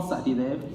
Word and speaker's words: Satyadev: be the norm my name is Sethi live that is how you pronounce my last name and i'm the founder